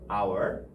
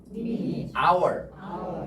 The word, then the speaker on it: hour: 왜냐하면 왜 hour이라고 하냐면 H가 묵음이에요. 이거는 H가 묵음. 그래서 hour 이렇게 발음하는 거죠. hour.